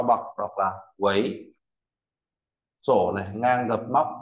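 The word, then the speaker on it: 囗: Tiếp theo tôi viết bộ vi nó về bao bọc đọc là quấy sổ này ngang gập móc ngang đọc đọc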